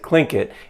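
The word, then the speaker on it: Tlingit: actually spelled t-l-i-n-g-i-t but in that language they pronounce it clink it and it's a member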